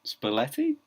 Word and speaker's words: Spalletti: And 20 seconds on Spalletti?